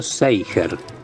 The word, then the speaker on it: Zeiger: Yo pronuncio Seiger, pero mi apellido es un problema de larga data.